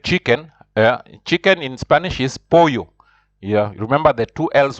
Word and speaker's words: pollo: Chicken in Spanish is pollo. Yeah, remember the two L's. Whenever there are two L's, it's always pronounced like yo. So pollo pollo deshilachado.